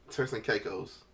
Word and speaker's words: Turks and Caicos: All right, so we in Turks and Caicos.